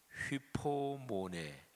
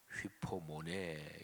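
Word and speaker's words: ὑπομονή: 멋진 말씀이 있죠 오늘은 인 됩니다 인대는 헬라어 발음으로 휘 포 모네 휩 폼 오네 이렇게 발음 하는데요 그런데 아 하나님의 속성 내가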